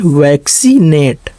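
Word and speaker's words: vaccinate: देखिए पहले सी को जो है का पढ़े और दूसरे सी को जो है सा, इसलिए वैक्सीनेट, इसीलिए इसको पढ़ा जाएगा वैक्सीनेट।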